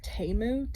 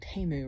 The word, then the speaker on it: Temu: I'm trying out this I think it's pronounced taemu t-e-m-u and apparently it's supposed